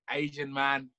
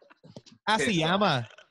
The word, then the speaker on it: Asiamah: Asiamah, Asiamah, Asian man, piss off. Asiamah.